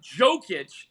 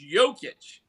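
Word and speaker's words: Jokić: and by the way LeBron know how to pronounce his freaking name okay it's not jokic like you said it's jokic oh no it's it's like the whole thing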